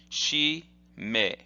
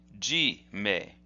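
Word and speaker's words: 絞め: or a choke so the way this is pronounced is as follows she may she may and that means are that is the the way that this character is pronounced however sometimes in Japanese you will see it pronounced this way G may G may so sometimes you might see something for instance one of the techniques that we'll see in the next video hidaka G may is pronounced that way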